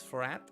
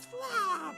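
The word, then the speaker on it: F'rraatt: all crap frat uh in my own tongue it is pronounced as fla but i don't expect you to use the erika graton it is frat uh it is but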